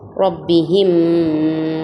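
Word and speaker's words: رَبِّهِمْ: Meme ஷத்தா கெஸ்ரா, அங்கே குன்னா செஞ்சு ஓதணும். மீமுக்கு ஷத்து செய்யப்பட்டதுனால குன்னா செஞ்சு ரொப்பிஹிம்.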